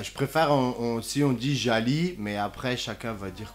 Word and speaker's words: Jally: pour eux pourquoi je préfère aussi on dit jali mais après chacun va dire comme il veut djabi jelly jali j'ai pris pour habitude de dire jali parce que le gie en langue française se prononce j donc voilà et alors c'est un